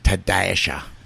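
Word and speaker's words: Ta-sha: and said, hey, dumbass, the dash don't be silent, so it's Tadasha.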